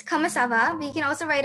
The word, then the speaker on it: ça va: So you would say comment ça va, and remember how it's like kava, it's like ça va because of the accent below. The accent changes the pronunciation.